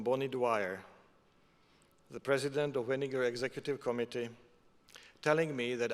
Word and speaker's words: Weniger: And with my Chinglish, I will try not to pronounce it Weniger, but Weniger.